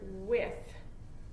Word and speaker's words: with: The word with. With. It has a TH sound at the end. That doesn't say with. It says wit.